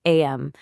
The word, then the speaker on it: Aim: It's pronounced am.